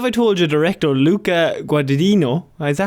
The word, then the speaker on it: Guadagnino: But what if I told you director Luca Guadagnino? Is that how you pronounce it? Guadagnino, I think it is.